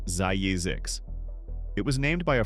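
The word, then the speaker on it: Zzyzx: California is home to a town named Zizix, pronounced Zayizix.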